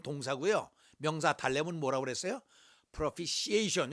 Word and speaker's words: propitiation: propitiation, 요 T 발음을 안 해요.